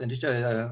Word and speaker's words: anicca: Okay, so Vipassana insight knowledge is concerned specifically with the 3 general characteristics of conditioned phenomena: anicca, pronounced anicca, on impermanence; dukkha, unsatisfactoriness and suffering.